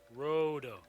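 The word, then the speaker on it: ロード: That's a row, and then it's road. Rodo. That's how you'd read it in Japanese, but it translates as load.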